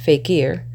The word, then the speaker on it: fakir: The faker, pronounced fakir, stands on the stage